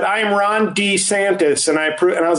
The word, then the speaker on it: DeSantis: I've been saying DeSantis. Everybody's been saying DeSantis except for one person, Ron DeSantis. In his release video, we're fighting the woke... He said, I'm Ron DeSantis.